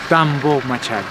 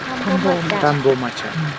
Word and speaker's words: Tambomachay: is Tambomachay. Tambomachay. But the real name is Tampu. Tambomachay. One more time, the Spanish they couldn't to pronounce correctly.